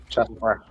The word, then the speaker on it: Szarekh: Szarekh? Is that how you say it? Szarekh.